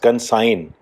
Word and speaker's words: consign: Next is consign, CONSIGN, consign, G silent होता है इसमें, to entrust और hand over.